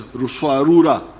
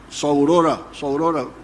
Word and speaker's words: Ruswarura: came to understand as Ruswarura. When you read, I think it is Speak, Understand, they write Saurora, but it didn't, they were mispronouncing the name.